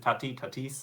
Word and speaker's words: Tatis: Is it Tatis?